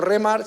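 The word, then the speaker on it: rhema: Se escribe R-H-E-M-A. No como remar, sino como rema, ¿no?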